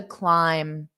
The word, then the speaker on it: climb: so it's unstressed to climb now there's no B in this word so I don't say